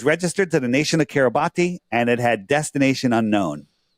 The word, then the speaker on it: Kiribati: And it said it was registered to the nation of Kiribati, and it had destination unknown. That's weird. So we'd like, where is Kiribati? Have you ever heard of Kiribati? It's pronounced Kiribati, but it's Kiribati with a B.